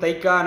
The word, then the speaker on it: தைக்கா: தைக்கா என்பதன் சரியான உச்சரிப்பு தெக்கே என்பதாகும். துருக்கி மொழியில் தெக்கே என்றால் சூஃபியாக்களின் இருப்பிடம், மெய்ஞானிகளின் தவச்சாலை. தைக்காக்கள் பல இருக்கும் முஸ்லிம் குடியிருப்பான காயல்பட்டினத்தில் தெக்கே என்ற சொல் மருவி மருவி காலப்போக்கில் தைக்கா என்று மாறிவிட்டது.